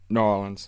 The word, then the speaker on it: New Orleans: But now, is that how they say it? Norins? Yeah. New Orleans. Yeah, there we go.